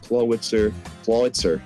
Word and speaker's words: Clawitzer: New York Klinks brought Clawitzer, sorry, the W is not pronounced, Jirachi, Zapdos, Gligar, Blastoise, and Blaziken, while the Magikarps brought Pyroar, Dragonite, Gardevoir, Alakazam, Scolipede, and Mandibuzz.